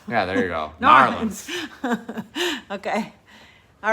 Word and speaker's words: New Orleans: Yeah, But So you have to say it in one syllable. New Orleans. Narlands. Yeah, there you go. Narlands.